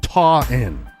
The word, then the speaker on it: Taunton: Also in Massachusetts, we have Elena in Easton, and we have Ashley in, I'm told it's pronounced Taunton, Massachusetts.